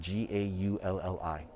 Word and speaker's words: Gaulli: And the Baroque artist here that I wanted to show you specifically is Gaulli, and he is spelled G-A-U-L-L-I, Gaulli, okay?